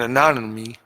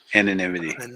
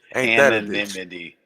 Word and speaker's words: anonymity: be a great topic privacy and anonymy in the crypto space why can I pronounce that word today somebody's going to come correct me right no freaking Diamond hands anonymity like I heard you say it and I still can't say it anonymity Rick's starting to